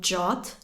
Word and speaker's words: JWT: vai ser Spring Security jwt ou jot que é como se pronuncia em inglês vai ser já Java